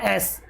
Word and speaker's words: ass: कई लोग इसको एज पढ़ते हैं। ये आदर्श से बोलना एस।